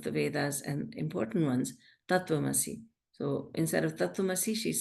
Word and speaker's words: Tattvamasi: I never heard of Tattumasi. What she was saying is Tattvamasi, but she was not pronouncing the words correctly, and she's saying Tattvamasi. Remember, I was saying in the talk, Tattvamasi.